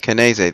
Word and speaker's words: Canese: Canese, that's how you say his name.